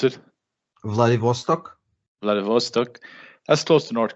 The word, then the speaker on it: Vladivostok: um Vlad what it Vlad how do you pronounce it Vladivostok Vladivostok that's close to North Korea is it